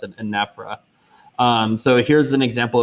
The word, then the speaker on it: anaphora: for me this is i pronounce this anaphra some people pronounce it anaphora but i'm fairly certain that you would pronounce it anaphora um so here's an